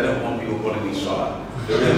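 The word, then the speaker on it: Sola: This is, the spelling of my name is S-O-L-A, just so you know, but the pronunciation is indeed S-H. I'm quite happy with S-H-O-L-A because I don't want people calling me Shola.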